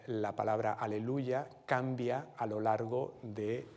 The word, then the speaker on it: aleluya: de eh del fragmento al principio se pronuncia sobre un valor largo es una negra con puntillo y en un tiempo fuerte aleluya aleluya pero poco después esa manera de pronunciación va a cambiar y va el acento se va a trasladar a la tercera sílaba aleluya aleluya eh acentuando la tercera sílaba y ese Aleluya